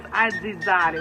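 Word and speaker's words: azzizzari: Today's word is aggizzare.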